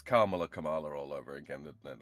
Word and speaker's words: Kamala: Like when she said her own name, she said it is Kamala. And I was like, it means like everybody, including like people that are like her 100% supporters, are saying her name wrong?